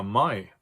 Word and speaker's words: Mai: So very commonly you will see words that have A-I or E-I in it, and they're always pronounced like an I. And here are some examples. Der Leib, der Mai.